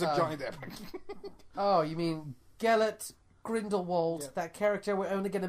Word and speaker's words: Gellert Grindelwald: Gilder what the you saying Gilda Gilda wart Johnny that the crimes are joined oh you mean Gellert Grindelwald that character we're only gonna mention once and